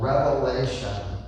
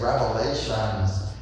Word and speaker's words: Revelation: us to all know there's no s and I heard some people say it right he wrote the book called Revelation and somehow people like to say Revelations that's not what the book is called the last book of